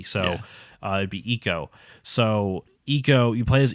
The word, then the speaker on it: Ico: as a character named eco we always said aiko because that's a very americanized way of saying